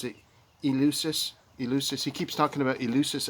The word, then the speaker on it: Eleusis: ancient secrets that the ancient Greeks participated in Ulysses. I don't know how to pronounce it. Eleusis.